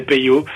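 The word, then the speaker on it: Peyo: notre famille vient d'Angleterre nos petits cousins anglais avait difficile de prononcer le mot Pirot il disait pot et donc on l' appelait pot tout son son enfance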